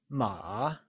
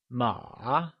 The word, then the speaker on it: mǎ: Note that in Mandarin, horse translates to ma, and it is pronounced using a falling rising tone, or the third tone.